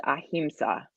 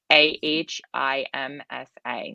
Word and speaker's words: ahimsa: of and the sanskrit word for that is ahimsa or himsa depending on how you pronounce it is that on there it's not